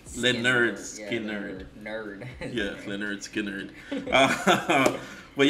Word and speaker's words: Lynyrd Skynyrd: You know, when I first heard, I used to call him Lynyrd Skynyrd because the name. I see. Yeah. But it's pronounced Lynyrd Skynyrd.